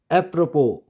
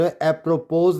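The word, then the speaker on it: apropos: count नहीं वाय count अप्रोपो अप्रोपो इसमें S site अप्रपोज नहीं बढ़ेंगे अप्रोपो अप्रोपो क्लियर नेक्स्ट अल्फाबेट टी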